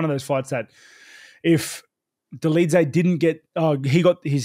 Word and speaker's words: Dolidze: I think I said dollars a day, but it's Dolidze.